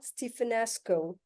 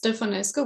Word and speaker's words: Stefanescu: and Victor recommended Stephenasco. So we are here in Romania. Dear, a hearty and warm welcome to Estafet and I hope I pronounced your name correctly. Thank you Shellini. It's Stefanesco, but it's okay.